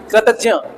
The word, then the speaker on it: कृतज्ञ: अच्छा, एक और चीज बताएं, इसको प्रोनाउंसिएट कैसे किया जाता है बताओ? ज और या टी, कृतज्ञ।